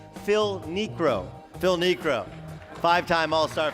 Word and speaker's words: Phil Niekro: And there's names you need to pronounce correctly, like Phil Niekro. Phil Niekro. 5-time All-Star Phil Niekro.